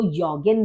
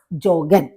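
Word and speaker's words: joggen: जो है ज का जे का जे ही आपका जोग ही प्रोनाउंस किया जाएगा इसको योगन नहीं बोलेंगे तो दास जोगन दास वंड सर्फिन दास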